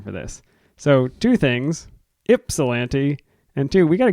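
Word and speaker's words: Ypsilanti: specifically about the Brewer from Yip salant Michigan pronounced ipsilanti it's no bother though everyone pronounces it incorrectly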